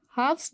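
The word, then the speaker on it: halves: हाफ्स में हम एल को प्रोनाउंस नहीं करते.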